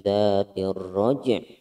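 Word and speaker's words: ذَاتِ الرَّجْعِ: Nah, huruf ainnya ini tidak boleh hilang. Jadi bacanya wassama'i dzatir raj'. Ada nya itu ainnya masih tetap ada. Wassama'i dzatir raj'. Bukan wassama'i dzatir raj'. Tapi dzatir raj'. Dzatir raj' ada ainnya masih harus terdengar meskipun sedikit terdengarnya.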